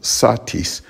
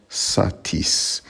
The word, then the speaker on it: satis: the first syllable with satis the normal stress would be on the first syllable satis not satis and there's an interesting